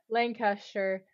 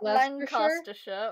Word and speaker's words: Lancashire: Gloucestershire, Hampshire, Herefordshire, Hertfordshire, Herefordshire, Hertfordshire, Huntingdonshire, Lancashire, Lincolnshire, Leicestershire. Lancastershire, or is it Lancaster? Lancashire. Lancashire? Lanca. It's L-A-N-C-A, sure.